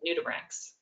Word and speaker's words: nudibranchs: So that's just a new word for me, nudibranchs. That's how you say it, nudibranchs.